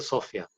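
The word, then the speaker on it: Zofia: En polaco se llama Sofia. Sofia se escribe con Z y se pronuncia Sofia.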